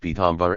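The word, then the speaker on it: पीताम्बर: Pita and Ambara combined by way of Sandhi are pronounced Pitambar and mean cloth that is yellow.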